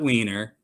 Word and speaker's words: Wiener: Senator Scott Wiener, that's how you pronounce that.